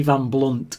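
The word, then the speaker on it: Van Blundht: this episode uh Eddie Van blunt is constantly telling people that it's got a h in his name the H is silent so as Eddie's dad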